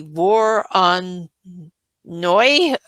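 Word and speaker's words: Voronoi: Now, do not ask me to pronounce this right. It is the war on noy uh v o r o n o i filter.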